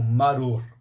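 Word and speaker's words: מרור: pelo povo do egito ela é pronunciada como maru isso é a pronúncia da raiz ou das ervas amargas para o povo judeu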